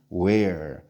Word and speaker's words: where: where.